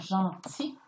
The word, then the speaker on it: gentil: des mots par exemple gentil hein elle à la fin qu'on ne prononce pas pourquoi irm mais c'est parce que dans sa famille il ya le mot gentillesse douane doit pourquoi j'étais